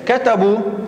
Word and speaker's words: كتبوا: الواو جاءت هذه الألف، كتبناها إلا أنها لم تلفظ. نحن نقول كتبوا هذه واو الجماعة وكتبنا بعدها ألف. وفي المثال الثاني أيها الطلاب ادرسوا أيضا جاءت واو الجماعة وبعدها ألف، هذه الألف تكتب ولا تلفظ.